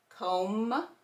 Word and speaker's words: comb: MB, the B is silent, and we're going to hear M. Comb, climb, and crumb.